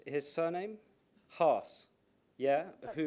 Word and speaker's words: Haas: by Charlie, how do you pronounce his surname? Haas, yeah, That who sounds good enough.